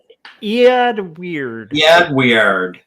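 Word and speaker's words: Eadweard: His name is, I think you would pronounce that Edward. But it's Edward. If you'd given me 1,000 years, I wouldn't have gotten that Edward spelled right. Edward. Yeah, right. So Ead Weird.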